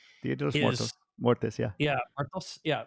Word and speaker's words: Muertos: And by the way, Dia de los Muertes, I hope I said that right, Dia de los is Muertos.